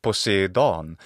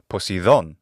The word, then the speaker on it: Poseidon: equivalent of Neptune is posidon and posidon In classical adic pronunciation is poson or in modern Greek pronunciation posidon the atmology of the